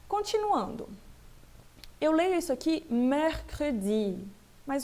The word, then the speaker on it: mercredi: Então, esse ER faz parte da minha relação lá dos Z's abertos, tudo bem? E aí eu pronuncio bem aberto mesmo, mercredi. Esse E aqui, esse segundo E, ele é fechado, por quê? Porque ele termina em E, praticamente eu não pronuncio, mercredi.